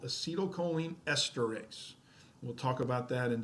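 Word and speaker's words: acetylcholinesterase: just a second but I always mispronounce it because I like to say acetylcholine erase because if it really is going to erase the acetylcholine but once that happens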